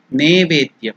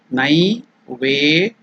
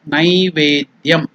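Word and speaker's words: नैवेद्यम्: See, it is not, some people in some parts of India, they pronounce it as Nevedyam. It is not Ne. It is Nai.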